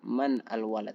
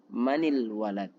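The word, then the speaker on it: من الولد: Manil walad, bukan man al walad, tapi manil walad. Awalnya sukun bertemu sukun, tidak bisa dibaca, maka untuk mempermudah diberi harokat kasrah.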